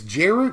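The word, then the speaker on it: Djeru: this right here is jeru deju I just call it J's resolve I'm going assume that D is silent it's one white Mana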